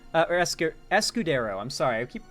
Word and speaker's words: Escudero: be avoided in the impeachment trial of duterte escaro said or ES escudero I'm sorry I keep mispronouncing his name uh said steps were taken